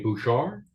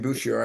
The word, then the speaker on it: Bouchard: name is uh Wayne Bouchard Wayne Boucher and you don't pronounce the d because it's a French way of saying it we I I started our first show I said Wayne Bouchard and he absolutely corrected